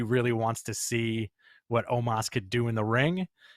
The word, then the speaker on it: Omos: Immediately challenged AJ and, how do you pronounce it? Omos. Omos or Omos? I think it's almost. I think Omos. It's Omos.